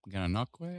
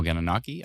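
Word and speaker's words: Gananoque: If you're near Ganon or is that you pronounce it Ganquay? I think so. Let's see. Ganaki. Oh, Ganaki. I thought it's Ganquay.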